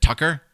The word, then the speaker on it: Tucker: There's a spiritual element to the UFO phenomenon, said Tucker. Rhymes with trucker.